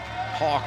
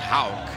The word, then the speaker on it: Hauk: I did talk to Will beforehand, and even though it looks very much like Hawk, it's pronounced Hauk, as he had a 14-2 last night, the senior from Indy.